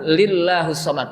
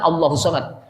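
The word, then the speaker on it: ٱللَّهُ ٱلصَّمَدُ: Maka dibacanya tidak qul huwallahu ahadun lillahus somad. Itu salah besar. Karena kita pernah dengar juga yang begitu jadi imam lagi. Qul huwallahu ahadun lillahus somad. Padahal Allahus somad.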